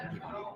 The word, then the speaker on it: Hidon: No one knows how to say it, so my dad says it. Hidon. Your dad says it Hidon, so we're gonna say Hidon.